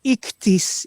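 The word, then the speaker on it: ΙΧΘΥΣ: parola pesce deriva da una parola greca formata da 5 lettere che insieme si pronuncia in italiano come ictis, e queste 5 parole che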